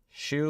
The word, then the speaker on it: Zhu: Yeah, actually, I don't know for sure, but do you say your last name Tony Zhu? Shoe like the shoe you wear.